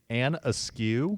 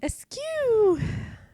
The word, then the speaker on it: Askew: And Askew? Askew. Yep. Askew, like ASKEW? Absolutely.